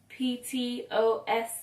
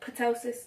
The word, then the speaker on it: ptosis: It's spelled P-T-O-S-I-S. It looks like ptosis, but it's ptosis.